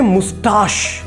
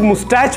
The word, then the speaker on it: moustache: Alright guys, इन्हें बोलते हैं मुस्ताश। इसे बहुत से लोग मुस्टैच बोलते हैं जो कि गलत उच्चारण है। इसे हम बोलेंगे मुस्ताश और इसका स्पेलिंग होगा MOUSTACHE।